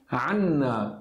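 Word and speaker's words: عنّا: Nós vai ter duas letras N, então a gente tem que pronunciar estressando. Fica Anna. Aqui não, Anna, Anna, sem estresse nenhum. A única diferença vai ser estressar a letra N ou não.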